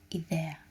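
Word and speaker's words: ιδέα: you pronounce I, but the word idea in Greek is idea. So you don't use this letter like an AY, I. You use it like an E again, like a double E.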